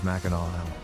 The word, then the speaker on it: Mackinac: to correct myself here even though makanak ends with a c you're supposed to pronounce it as mackinaw i don't know if